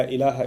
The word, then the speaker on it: ilah: this Arabic phrase, La ilaha illallah, in which there's the term ilah. If you want to write that in English, it would be I-L-A-A-H, ilah. It's pretty easy to pronounce in English, okay?